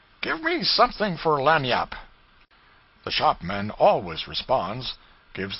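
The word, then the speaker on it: lagniappe: limber expressive handy word lanap they pronounced it Lanny Yap it is Spanish so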